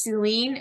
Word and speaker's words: Selin: kind of pronounce so my first name is just like English Celine you know Celine Dion but my last name